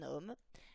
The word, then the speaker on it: homme: Par exemple, on va dire un homme, puisque le mot homme commence par un H qu'on ne prononce pas. De la même façon, on dira des hommes.